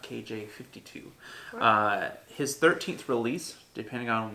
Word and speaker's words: KJ-52: looking at kj5 - it's pronounced that knot KJ 52 his 13th release depending